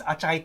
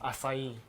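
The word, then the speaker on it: açaí: can you please tell me what is this achai thing i try you want to talk about that okay so uh first and foremost let's get the record straight it's not pronounced actually pronounced acai right okay so it's not it's not like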